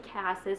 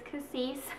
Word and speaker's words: Cassis: lines these are cassis i recently learned that's how you pronounce that i've been saying cassis but apparently it's cassis um so these are